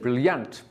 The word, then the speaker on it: brilliant: Brilliant. No. Brilliant. Stress 1 or 2? 1. Yeah, 2 syllables, brilliant. The stress, Brilliant. 1.